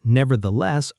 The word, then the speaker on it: nevertheless: 4 syllables. The less. The stress falls on the last syllable. The less. There is also a th sound in the middle, the same soft th as in the and this.